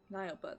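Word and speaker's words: Nyelbert: Nileberт, that's how you pronounce it, not Nilbert, as I kept saying.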